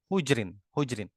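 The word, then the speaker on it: حُجْر: Hujrin. Dibacanya bagaimana? Kaidahnya begini. Ha jim ro ini kalau rawinya mutaqaddimin ya. Rawinya mutaqaddimin. Rawinya rawi yang terdahulu. Nah, maka semuanya itu dibaca hujrin, haknya didomahkan. Hujrin.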